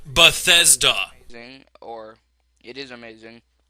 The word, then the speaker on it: Bethesda: Everyone, I know that this is a nuance and kind of nitpicking, but it's actually pronounced Bethesda.